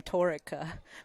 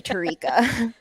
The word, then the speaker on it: Tarika: got swapped around but i've always pronounced her name torika which is i had her on my podcast and i think i just now realized that i said her name the whole time totally tarika whoops sorry tarika i'm